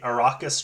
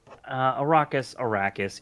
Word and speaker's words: Arrakis: First is the Arrakis tribe. Donald, am I pronouncing that correctly? Arrakis. It doesn't really matter. Okay, A lot of people call it Arrakis.